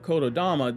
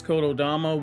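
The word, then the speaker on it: 言霊: means spirit or soul, but it's pronounced as Dama when you put those words together. So in Japanese Shinto stories, Kododama was used in several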